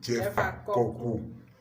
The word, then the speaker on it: Jeffa Koku: Il faut prononcer Jeffa Koku. Jeffa Koku.